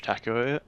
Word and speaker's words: Takeoi: have the host here taco yep is that how i pronounce it uh yeah a lot of people pronounce it weird but yeah taco is as close as you get yeah okay cool uh